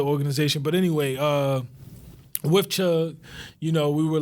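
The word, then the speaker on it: CHUCG: hill urban community garden c-h-u-c-g yeah to see is silent at that farm which we'll talk about new growth later with the with the organization but anyway uh with chug you know we were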